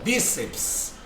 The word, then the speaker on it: bíceps: tônica ou bíceps ó perceba que a sílaba tônica é o bi então bíceps eu tenho aí né